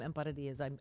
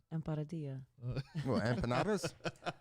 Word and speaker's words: empanadas: i'll make some some emparadias i was going to make some say that again real fast empanadas that's not how you pronounce it that's not how you do it no it's not